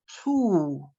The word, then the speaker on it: who: The next word is who. You do not pronounce the W, not who are you, but who are you?